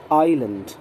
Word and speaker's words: island: ध्यान रहे, S का प्रोनाउंसिएशन हम यहाँ नहीं करते। Island, insular।